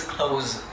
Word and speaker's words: close: When it is verb, it is close, za. Similarly, same goes with use and use.